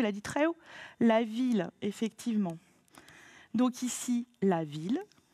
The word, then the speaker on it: ville: La ville, effectivement. Donc ici, la ville. Les I2LE ne se prononcent pas IE.